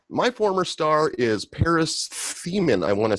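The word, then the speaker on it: Themmen: So my former star is Paris Themen, I want to say is how you pronounce his name. It's Themen.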